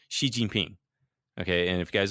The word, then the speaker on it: Xi Jinping: And the X sound is not an SH sound, but you could just say she, like he, she, Xi Jinping, that would sound a lot better than an Xi Jinping.